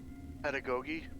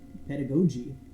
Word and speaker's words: pedagogy: It's another word I had to look up a pronunciation for. Pedagogy. Pedagogy.